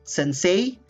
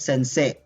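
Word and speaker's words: 先生: teacher in japanese word okay it's not sensei but sensei alvin sensei all right are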